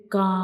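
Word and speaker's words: كاف: And how we pronounce kaf? When we pronounce kaf, the back of the tongue will touch to the hard palate.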